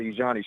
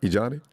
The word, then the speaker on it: Ijani: My daughter Ijani, she turned 9 just. Did you say? Is it yesterday? Lord, I'm so spun. Yeah. Ijani. Did you say Ijani? Did I pronounce that right? Ijani? Yes, sir.